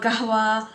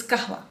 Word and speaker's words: Qahwa: original KRA along with the gahwa notes kaahwa gahwa many people call it like yeah it's either say they pronounce it like kaahwa or gahwa but uh according to the box it's kaahwa now it's it smells exactly like the original